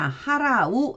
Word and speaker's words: 払: 떨치다, 털어내다 라는 뜻인데, 자, 하라우 읽어줍니다. 그러면 떨치다, 털다 이런 뜻이 되고요. 그리고 발음을 할 때는 한국어로는 불로 읽어주고 일본어로는 후츠로 읽어줍니다.